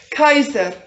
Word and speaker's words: Caesar: Caesar in Latin is pronounced Caesar. Cesar to się wymawia w łacinie Kaiser.